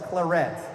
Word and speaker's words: claret: You'll hear some people call it the claret jug, but it's not French at all. It's claret.